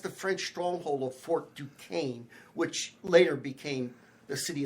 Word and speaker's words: Duquesne: He actually led an attack with against the French stronghold of Fort Duquesne, which later became the city of Pittsburgh.